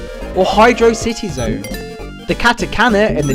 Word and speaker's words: Hydrocity: the zone is pronounced hydrosity similar to the word velocity or Hydro City Zone the Katakana in